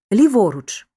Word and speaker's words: ліворуч: на останній склад кратькома у складних прислівниках часто наголошують середні склади натомість ліворуч подвійний наголос мають такі